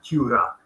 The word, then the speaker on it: Tura: There's Uli the Shieldbreaker and Tura, which it's an awkward pronunciation, but that is how I think the authentic pronunciation of it is from the time. Tura.